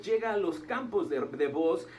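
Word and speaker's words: Booz: encontrar con B de burro, O y Z, Boz, ¿verdad? No Buzz Lightyear, ese es otro, es Boz. Algunas personas yo he mirado que lo pronuncian como Boaz, otro como Boz.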